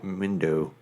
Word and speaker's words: Mendel: Mindo. It's spelled like Mo Mandel, but with a M-E-N.